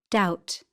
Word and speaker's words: doubt: O O co-opt B silent letters the letters below in bold are silent in the examples P psychic psychiatry pneumatic receipt pseudonym psychology B comb dumb Numb to climb. Womb lamb. B doubt.